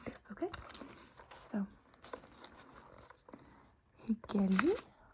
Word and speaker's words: hyggelig: Hyggelig å møte deg. Hyggelig å møte deg. Nice to meet you. So in the word nice or hyggelig, we don't pronounce the G at the end.